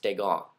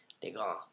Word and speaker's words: Descamps: myself, and of course Timo Degon is how he likes we say it. It's spelled Descamps. Just let's make this clear now and once and for all. It's pronounced Degon. Okay, Degon. You gotta go when you say it.